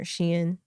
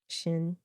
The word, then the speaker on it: Shein: Do you say Shein or Shein? Shein. I've heard it pronounced different. Yeah, that's how I say it.